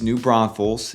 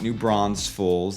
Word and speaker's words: New Braunfels: For example, it's New Braunfels. It's not New Braunfels. There's no extra S in there.